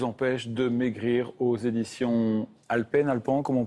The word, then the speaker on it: Alpen: Les erreurs qui vous empêchent de maigrir aux éditions Alpen, comment on prononce?